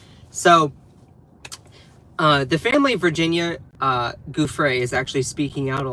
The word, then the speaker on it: Giuffre: So the fact that Donald Trump has like repeated over and over that, Virginia, by the way, I used to say Guffrey. I think it's actually pronounced Giuffre.